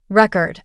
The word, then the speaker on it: record: Record, a noun, versus record, a verb.